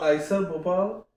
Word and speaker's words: IISER Bhopal: It's called IISER Bhopal. Oh, IISER Bhopal.